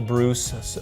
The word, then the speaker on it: Breus: Michael Bruce pronounced like Zeus and it's about discovering